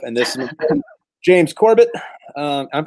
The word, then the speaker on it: James Corbett: I'm Tripp, and this is my buddy, James Corbett. I'm pronouncing that right.